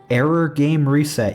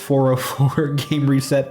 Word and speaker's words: 404 Game Reset: This one is Error Game Reset. You might think it's pronounced 404 Game Reset, but it's 404 like the error.